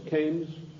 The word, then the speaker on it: Keynes: John Maynard Keynes or canes he said change was a better word because arrived with rhymes with brains and this is the